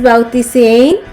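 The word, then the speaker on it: βαπτίζειν: Y la palabra bautismo viene del griego, que se pronunciaría de esta manera, que es bautisein, que significa sumergirse o lavar.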